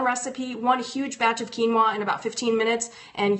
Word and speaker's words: quinoa: And so tonight we are streamlining mealtime with quinoa. So if you can help me out and say this a couple times slow, quinoa, quinoa, quinoa. So now you know how to pronounce it.